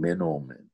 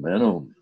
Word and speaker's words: Manoomin: Now, some people argue that because point out that because it's a special plant, it's a spiritual plant, the pronunciation has now become Manoomin.